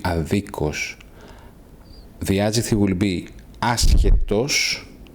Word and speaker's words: αδίκως: Note the difference in the stress. Okay, the words in os will have the stress in a different syllable. The adjective will be άδικος and the adverb will be αδίκος.